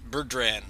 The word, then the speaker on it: Burdrann: Burdrann, sort of like that drum, the Boran, but with 9 N's in it, and a bunch of Celtic Q's.